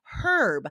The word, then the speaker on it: herb: But this is tricky because in the UK they do say the H. They say herb, which sounds so wrong to me because we never say the H.